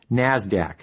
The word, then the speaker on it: NASDAQ: Today's big two stock markets are the New York Stock Exchange, NYSE, and the NASDAQ, which is pronounced NASDAQ.